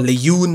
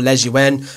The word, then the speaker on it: Lejeune: Lejeune, or Lejeune as the Spanish will pronounce him, or Lejeune, however you want to pronounce it.